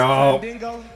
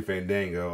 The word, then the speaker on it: Fandango: Santino was at his funniest when badly pronouncing wrestlers' names. Yo. Fandingo. Fandingo. Oh my god. Like he did. Crazy. Yeah, he's on there too, Fandango, or Dirty Dango.